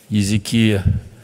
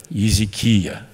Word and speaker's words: Езекия: Да, вот, оказывается, так произносится имя этого царя Езекия. Мы сейчас записываем аудиоверсию Библии. И получается, что большей части вот, еврейские слова, еврейские имена имеют ударение именно вот на этом слоге.